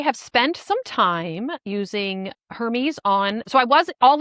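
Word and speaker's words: Hermès: Isn't that the brand you say it like? Well, for like if you buy the fancy scarves, the French scarves spelled the same way. Yeah, you're there's an accent. Hermes.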